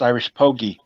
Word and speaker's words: IrishPogi: Is it IrishPogi? Is that how you pronounce it? Rob got it right. It's IrishPogi. The G is hard.